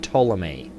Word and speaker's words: Ptolemy: Gaugamela, Seleucus, Antigonus, and Ptolemy. The P is silent.